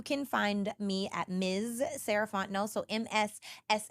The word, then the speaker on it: Fontenot: find me at Ms sarant no so MSS r a h f o n t n o t the t is silent um that's me on